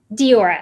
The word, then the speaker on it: Deora: I'm thinking, Doria, did I said it right? Deora. I said it correctly.